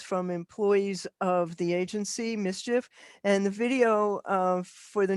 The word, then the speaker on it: MSCHF: This is from an agency called MSCHF, which you pronounce Mischief Agency, and the shoes sold out in seconds, and Nike's suing them.